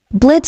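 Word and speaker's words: Blitzø: Name's Blitz." The O is silent.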